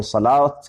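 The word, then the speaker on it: صلوٰة: دوسرا حرف لکھ دینا، جیسے صلاۃ، الف کی جگہ واو ہے، یہاں صلوات ہے لیکن پڑھا جاتا ہے صلاۃ۔ تو ہونا تو چاہیے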